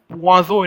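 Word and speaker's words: poisson: fish is quite interesting fish is known as puazo in french it's p o i double s o n swazo in french puaso you know we have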